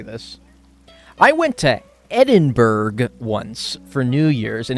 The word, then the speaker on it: Edinburgh: you say it Edinburgh Edinburgh Edinburgh even though it has b-u-r-g in it you're supposed to say brah Edinburgh oh it's sticks